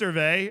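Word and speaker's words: Hervé: an international magician he's it's pronounced erve oh that's not as fun to say but okay irve Renard yeah but he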